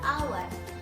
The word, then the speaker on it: hour: Karena dalam bahasa Inggris, hour itu dibacanya hour. A adalah huruf vokal. Jadi an hour.